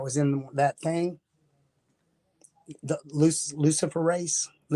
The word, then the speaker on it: luciferase: and they called it luciferase. But if you look at how it's spelled Lucifer race. Luciferase.